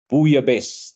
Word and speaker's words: bouillabaisse: And of course, I'm not able to play the pronunciation because bouillabaisse, that's how it's pronounced.